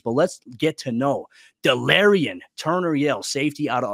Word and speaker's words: Delarrin: side of things but let's get to know delarion turner yell safety out of oklahoma and yes that's how you pronounce his first name despite the spelling it is delirian turner yale for those of you that are